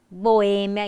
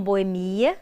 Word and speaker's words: boêmia: proparoxítonas amálgama andrógeno barbary boêmia e não boemia né como na música